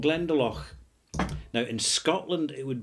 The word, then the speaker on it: Glendalough: So in Ireland, it's pronounced Glendalough. It's kind of softer, more lilting and all the rest of it.